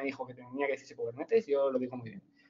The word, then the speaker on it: Kubernetes: Lo que sí que no consiento es que la gente diga mal Kubernetes, porque Kubernetes tengo muy claro cómo se dice, y se dice Kubernetes, que viene del griego y quiere decir, es el timonel, el tío que conduce el barco, ¿vale?